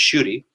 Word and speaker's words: Schuette: Sotomayor, as reflected in her Schuette dissent, is pronounced Schuette, and Justice Thomas, as reflected in his Grutter and Fisher 1 dissent.